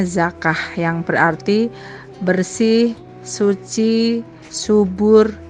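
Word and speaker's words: زكاة: syariat Islam definisi zakat kata zakat berasal dari bahasa Arab atau dibacanya zakah yang berarti bersih Suci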